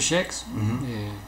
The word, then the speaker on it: Shcks: Facebook, Schex, así como se, no como se escucha, ¿no? Por no, estar igual de forma New y Saitán van a estar dejando ahí sus, sí. Cómo se escribe, pero es Schex. Schex, S-H-C-K-S, okay.